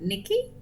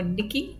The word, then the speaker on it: Nike: The guide yesterday told us that her name is actually pronounced like Nikki.